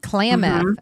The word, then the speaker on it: Klamath: So, from San Francisco, you headed up to, is it pronounced Klamath? Klamath, is that right? Yeah. Klamath.